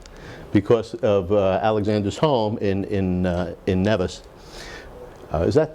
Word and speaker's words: Nevis: And we've had guest speakers from Nevis, from at one time we sang Happy Birthday together, everyone in New York and everyone in St. Kitts, because of Alexander's home in Nevis. Is that pronounced right?